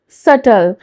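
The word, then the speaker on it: subtle: अगला वर्ड है सटल सटल यहां पे बी जो होता है वह साइलेंट होता है एस यू बी टी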